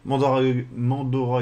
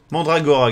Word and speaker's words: Mandragora: Donc voilà, et je remercie encore une fois Mandora Game. C'est ça parce que c'était vraiment cool. Mandragora Game. Voilà. So thank you Mandragora Game. Mandragora Game, fuck! I didn't say it correctly.